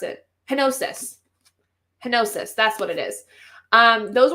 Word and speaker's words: Henosis: Like Hennison? Something like that. I don't remember how to pronounce it. Henosis.